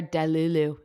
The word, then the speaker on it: delulu: they're Delulu. Did I say it right? That was that girl. Delulu. There's Delulu. some That's it. Delulus.